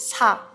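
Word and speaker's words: 사: So number 4 in Korean, it's sa. Sa. Sa. And the same pronunciation, like in Korea we use some Chinese letter. Okay. And sa means dead.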